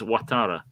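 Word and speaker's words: Ouattara: it should be dongle but it's a it's watara um which is say water in a weird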